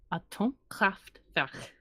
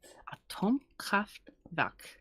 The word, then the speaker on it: Atomkraftverk: Atomkraftverk. Ish. Verk. At the end. You would think I would know how to say K's by now. Yeah. Having my name being spelled with one. I hope you can pronounce a K. Atomkraftverk. Close, Not right.